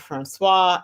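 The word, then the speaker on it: François: So that C with the thing on the bottom of it, that's called a sadia, and it's pronounced as an S in French. And in French, when you have a word that ends with a consonant, unless there's an E on the end of it, you do not pronounce that consonant. So it's just the last vowel sound.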